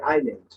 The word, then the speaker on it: island: দ্বীপ, দ্বীপ ইংরেজি হচ্ছে আইল্যান্ড, ISLAND, আইল্যান্ড। কিন্তু এখানে কিন্তু এস আছে, কিন্তু এস এর উচ্চারণ করা যাবে, এসটা সাইলেন্ট থাকবে, এস এর উচ্চারণ হবে না।